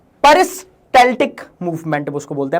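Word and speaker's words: peristaltic: परस्टैलेटिक movement उसको बोलते हैं। पेरिस्टैटिक कुछ लोग इसको बोल देते हैं। कुछ लोग इसको पेरिस्टेटिक बोल देते हैं। लेकिन एल यहां पे साइलेंट नहीं होता है।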